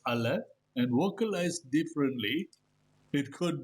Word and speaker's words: aleph: contain the name of the letter is pronounced as aleph and vocalized differently it